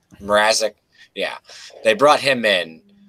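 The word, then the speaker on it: Mrázek: good I know they brought in Marissa Peter Marisnick or have you say his name arresting Mrazek Mrazek yeah they brought him in to kind of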